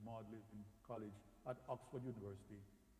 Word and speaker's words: Magdalen: that energy and it looks like Magdalene it's pronounced modeling in college at Oxford University containing fragments from